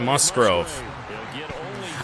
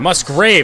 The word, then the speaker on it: Musgrave: middle that is caught Musgrove I've been saying his name wrong half the game Musgrave not mus Grove third down and seven